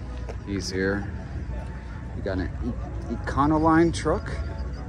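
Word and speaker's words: Econoline: 57 Safari review he's here we got an econol Line Truck how do you say that econol line Econo line yeah yeah these these have become popular huh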